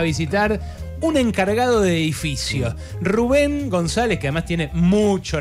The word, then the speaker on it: Rubén: No, Rubén es. Pero con acento en la E.